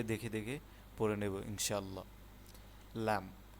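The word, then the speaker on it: ل: লাম লামের উচ্চারণটা এভাবে হবে। লাম লাম মিম।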